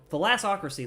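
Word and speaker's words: Thalassocracy: to the philosophy thalassic thalasso crazy the lastocracy the lassocracy that's how you pronounce it I was I knew something was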